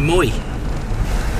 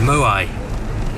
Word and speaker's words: moai: in the road and there's a Moy or a moai if you want to pronounce it properly there another one almost